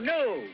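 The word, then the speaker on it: gnu: It's G-N-U, new. The G is silent.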